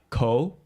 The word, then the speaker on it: KOHH: So that's why like the rappers there, like AKA like Ko. Yeah, Ko's the shit, man. Yeah, Ko is so his name is spelled as KOHH.